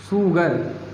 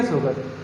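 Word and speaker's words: sugar: सुगर का, इसको सुगर, ये सही है क्या? ये सही है क्या शुगर?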